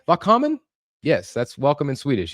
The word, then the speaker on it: välkommen: Välkommen. Did I say it right? Välkommen?